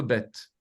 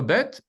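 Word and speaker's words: בית: deuxè lettre la lettre bête la lettre bête très important c'est une lettre dite explosive elle elle se prononce comme notre B et il y a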